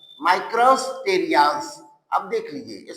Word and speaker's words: Micrasterias: ठीक है, नाउ तो इसका जो ये डिस्माइल्स है, इसका एग्जाम्पल है माइक्रोस्टेरियाज। माइक्रोस्टेरियाज, अब देख लीजिए स्पेलिंग देख लो बच्चों, MICRASTERIAS, मेस्टेरियाज, मेस्टेरियाज।